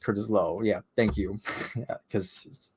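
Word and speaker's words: Curtis Loew: second helping is my favorite senior album It's pronounced Curtis Lowe yeah thank you yeah because because the things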